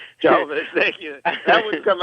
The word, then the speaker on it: Jovovich: I'm not sure how to pronounce her last name. Jovovich, thank you.